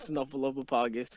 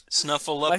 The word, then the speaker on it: Snuffleupagus: Snuffleupagus is cool, but I like Snuffleupagus. I can never get his name down. Snuffleupagus? But there's a P in there. It's so hard to pronounce. Snuffleupagus.